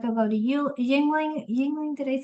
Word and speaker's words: Yuengling: Uh, like they'll go to Yuengling Yuengling did I say it right?